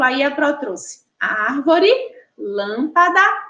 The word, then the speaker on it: lâmpada: Na palavra lâmpada, a gente observa também três sílabas, ó. Lâmpada. E aí também em relação à posição, ela é a sílaba tônica aí está localizada, está posicionada na sílaba antepenúltima.